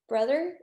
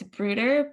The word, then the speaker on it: Bruder: And the next speaker we're actually going to have is Rachel Brother. I'm sorry if I'm pronouncing your last name wrong. It's Bruder, but it's funny because in German it means brother.